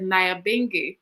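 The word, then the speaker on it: Nyabinghi: and we all said naya bingi because that's how we pronounce it here in jamaica you have her in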